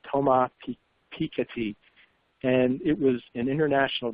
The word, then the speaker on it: Thomas Piketty: I looked up the pronunciation of his name, Thomas Piketty, and it was an international bestseller.